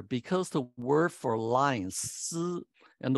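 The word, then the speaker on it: 獅: the word for lion, si, and the word for teacher is also si, like Sizi for lion and Lao Si for teacher. Lo Si for teacher, Si Ji for lion, both pronounced Si.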